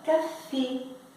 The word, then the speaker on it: café: Só que como o e do francês é um pouco mais fechado que o nosso, o que que vai acontecer com ele? Ele vai ficar com som do nosso e. Por isso que se escreve café, mas se fala café, tá?